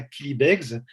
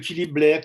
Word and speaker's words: Killybegs: Donc, tous les journalistes me disent Killy Blair. Et donc, je suis ravi qu'au Québec, au moins, ce mot-là, en anglais, on puisse le prononcer correctement.